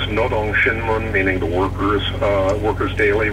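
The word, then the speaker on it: Rodong Sinmun: For reasons that are too complicated to explain right here, N's and R's are transliterated in a funny way from Korean language. It's pronounced Nodong Shinmun, meaning the workers, workers' daily, workers' paper.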